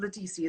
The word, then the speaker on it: Ledisi: gold cherry and it was ledecie doing and ledisi is her name yes isabelle correct me from